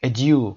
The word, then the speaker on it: adieu: این کلمه فرانسوی هست به معنای وداع، بدرود. adieu تلفظ میشه.